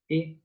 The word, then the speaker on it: et: Same pronunciation as et, eternal.